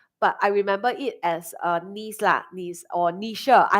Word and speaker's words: Nice: place in France called Nice. So I love to use this as an example. Remember Nice. Okay. There's really a place in France called Nice. It's not pronounced as nice. It's called Nice.